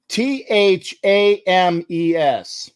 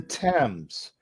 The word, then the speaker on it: Thames: how would you pronounce t-h-a-m-e-s teams teams and thanks for playing johnny we got some wonderful parting gifts for you it's pronounced thames like t-e-m-z okay the thames and that's that's for